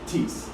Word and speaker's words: Theis: H is silent, long E.